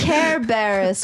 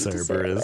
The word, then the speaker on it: Cerberus: Care Barris will greet you there. I know that's how you say it, but I like Cerberus. to say it.